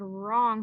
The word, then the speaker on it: wrong: Looks like we also have the word wrong right here that has our silent W.